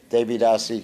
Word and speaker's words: Devidasi: Devidasi ki jai. It's a long I at the end.